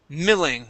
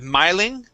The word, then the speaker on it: milling: last word here is milling instead of miling this is milling milling okay okay very nice